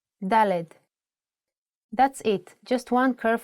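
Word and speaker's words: ד: let's move to the fourth letter DED with a sound of D DED that's it just one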